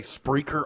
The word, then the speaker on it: Spreaker: can find this show, and you say Spreaker, I always think you're mispronouncing the word. No. I know you're not, but I'm like, dude, the word speaker. But it's not.